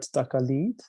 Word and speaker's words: taqalid: So it was during one of our journeys, one of my students introduced the word taqalid. So maybe I'm not pronouncing it right. Please correct me. Taqalid. No, it's right.